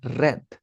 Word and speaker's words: read: forma participa también se escribe igual, pero la pronunciación es distinta. Va a ser red, read, red, red.